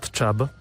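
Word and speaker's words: Čab: It's called Chab, C-A-B, but we pronounce it Ch, like Cefalu, right?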